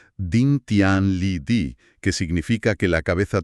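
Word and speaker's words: 顶天立地: La primera frase se pronuncia Din Tian Li Di, que significa que la cabeza toca el cielo y los pies se enraizan en la tierra.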